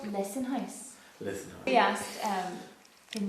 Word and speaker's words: Lissan: Really loud, all three of us It were said like, Lissan, but then that's not the way you pronounce it. Sure, it's not. It's Lissan.